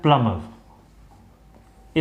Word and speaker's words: plumber: पिछले वीडियो में मैंने आप लोगों को बताया था कि ये वर्ड है PLUMBER, इसका सही प्रोनाउंसिएशन होता है प्लम्बर। इसको हम लोग प्लम्बर बोलते हैं, प्लम्बर नहीं। उस पे मैंने बाय मिस्टेक